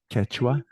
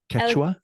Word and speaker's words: Quechua: Quechua. Quechua.